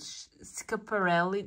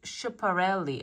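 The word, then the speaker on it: Schiaparelli: I think there Italian brand called scaparelli that's what they say but it's sh chiparelli I think that's what it is how you pronounce it um so that they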